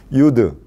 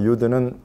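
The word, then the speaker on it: יוד: 이 히브리어 유드는 인쇄체하고 필기체가 똑같이 이렇게 살짝 점만 찍어 놓으면 돼요. 유드. 그래서 영어로 하면 Y 발음. Y 발음이 나는 것이 요 단어예요.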